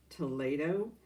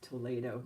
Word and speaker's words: Toledo: It's spelled like Toledo, but it's pronounced Toledo. And it's like a product from Spain. And Lily, she's the one who corrected the pronunciation for me. It's Toledo.